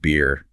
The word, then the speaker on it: better: Yes, it's much more common in many be accents often replacing the t sound better might be pronounced beer with that little catch in the throat and the a vowel.